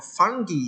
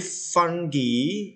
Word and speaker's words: fungi: book, we have a fungi here. Jadi fungi itu adalah jamur, ya. Cara bacanya itu bisa fungi, bisa juga fungi, bisa juga fungi. Itu terserah kamu mau pakai yang mana.